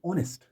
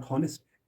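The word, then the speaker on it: honest: घंटा सात इसी तरह एन ऑनेस्ट नॉट होनेस्ट एन ऑनेस्ट Sadiq सच्चा ईमानदार इन ऑनेस्ट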